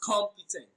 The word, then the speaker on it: competent: Now looking at the screen, competent is pronounced as competent. Com is pronounced louder and longer than any other syllable in that word.